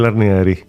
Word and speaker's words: Arnieri: Absolutely nailed the Italian pronunciation. Arneri.